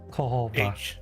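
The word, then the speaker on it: Cohogg: I keep forgetting whether the J is pronounced as a Y or a H. Kohoba.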